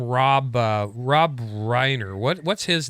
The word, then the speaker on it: Reiner: but the thing is if you didn't say it reiner it would be weiner right because it's spelled the same right yeah dianne feinstein's